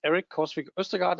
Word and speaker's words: Erik Korsvik Østergaard: My name is Erik Korsvik Østergaard, and I think you did a tremendous job in pronouncing that, actually, David.